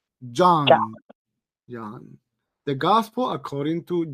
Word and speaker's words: John: Ahora, si usted dice John, entre O y A, John, es una O, es una O que suena como A. John. The gospel according to John, ¿ok?